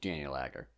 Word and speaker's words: Daniel Agger: I feel like you can't say his name then like separate. I think it's going to be like Daniel Agger. Like you can't. Daniel Agger. Yeah, but like when you're referring to him, it's like, oh yeah, it's Daniel Agger. Yeah. Like it's going to flow as one.